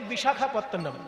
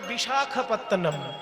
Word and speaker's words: বিশাখাপত্তনম: আরক বিশাখাপত্তন কথাটা হচ্ছে বিশাখ বিশাখা নয় বিশাখ আর বিশাখা আলাদা জিনিস।